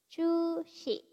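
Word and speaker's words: 中止: Chu shi. Cu-nya panjang ya teman-teman. Chu shi.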